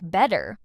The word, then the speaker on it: better: It happens specifically when t appears between two vowel sounds. That's why better ends up sounding like better, like in these examples.